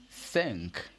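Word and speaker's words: cinq: you survive in French five is sank sank just like five apples saying boom let's check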